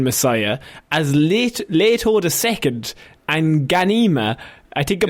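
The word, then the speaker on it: Ghanima: Shaun, Nakua Wolf Momoa, Jace Momoa's daughter, and Ida Brooke have joined Dune Messiah as Leto II and Ganima I think I'm pronouncing that right.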